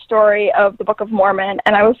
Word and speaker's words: Mormon: just die laughing because he pronounced it the Book of Moron instead of the Book of Mormon.